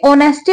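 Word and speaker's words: honesty: जरा ध्यान से देखना यह जो वर्ड है यह नेस्टी नहीं है एट से शुरू हो रहा है लेकिन एच इसमें साइलेंट होता है ठीक है यह ऑनेस्टी पढ़ा जाता है ऑनेस्टी का मतलब होता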